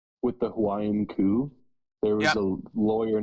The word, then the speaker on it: Hawaii: It's pronounced Hawaii. The H is not silent.